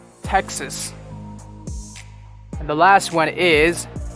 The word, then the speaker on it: Texas: hampshire new hampshire this one it's not texas it's texas texas and the last one is utah when i